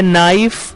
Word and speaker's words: knife: इसी तरह next word है नाइफ, जो कि स्पेलिंग है KNIFE, लेकिन उसमें भी के साइलेंट होता है।